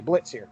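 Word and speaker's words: Blitzø: look at his name it's blitzo but the o is silent so he's the boss of the imps what do you what do you think of blitza blitz excuse me blitz here first of all let's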